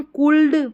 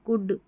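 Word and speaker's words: could: इसको हम कुल्ड, वुल्ड, शुल्ड नहीं पढ़ते, हम पढ़ते हैं कुड, वुड, शुड, ऐसे।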